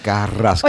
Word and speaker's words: Carrasquillo: También, extraordinaria victoria para Moisés Carrasquillo Jr., ¿ah? Y quiero pronunciar la R, bien, ¿ah? Que eso es de Puerto Rico. Rico. Tengo muchos detalles, ¿sabes? Este Bombi tremendo. Paquito, no te rías. Carrasquillo.